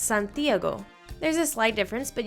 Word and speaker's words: Santiago: The second to last vowel in Santiago is the A, so that's where the most emphasis is going to be. That's why I pronounce it Santiago. That's where my emphasis falls.